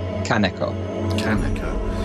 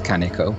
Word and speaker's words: Kaneko: drama queen so it's Kanaka and I most often pronounce it as Kanaka which has a bit too much texture in it because I'm Welsh and I go up and down a lot and the stress on